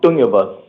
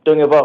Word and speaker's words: Tungovia: Tungovia. Well, it's pronounced Tungovia, Hopi way, but then you guys can say Tungovia if it's easier.